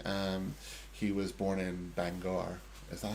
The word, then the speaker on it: Bangor: Um he was born in Bangor. Is that how you say it? Banga. Banga.